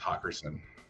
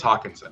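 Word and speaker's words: Hockenson: I'm going to laugh if it's Hawkerson. I'm looking this up. It's Hawkinson. Okay.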